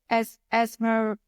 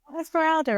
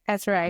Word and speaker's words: Esmeralda: Can I ask, is it Esmer, pronounce her name again for Esmeralda? Gorgeous. I was like, Esmeralda, and it's not Esme. Okay, Esmeralda.